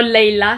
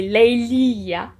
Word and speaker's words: Leilia: C'est pas Leila, c'est Leilia.